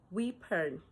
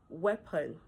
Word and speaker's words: weapon: Do you say we-pon? No. It is correctly pronounced as weapon. Weapon.